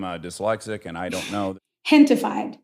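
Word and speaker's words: Gentefied: Hentified. So it's a play on gentrified, but gente is the word in Spanish for people.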